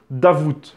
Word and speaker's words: Davout: d'ailleurs davout davut ont il paraîtrait qu'on prononce davut le thé à la fin mais bon moi je dis davout parce que j'ai toujours dit à vous et puis davut ça fait bizarre voilà donc louis-nicolas d'avouer